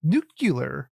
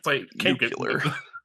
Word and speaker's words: nuclear: It's pronounced nuclear. Boom once. Shame on shame on you. V once. Can't be can't get nucular.